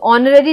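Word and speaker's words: honorary: तो ऑनररी जब हम सुनते हैं तो हमें ऐसा लगता है कि ऑनररी ओ से स्टार्ट हो रहा है, लेकिन ये स्टार्ट होता है एच से।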